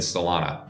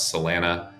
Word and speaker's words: Solana: It's a hop to get to Ethereum and Salana, which Tradfi will pronounce Salena or whatever.